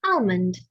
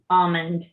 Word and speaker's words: almond: if you don't mind farmers will often tell you you call it almond on the tree and almond on the ground because you shake the l out of it oh brother all right